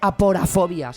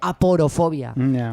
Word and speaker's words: aporofobia: favor aquí lo digo no se dice aporta fobia se dice aporofobia que quiere tenéis un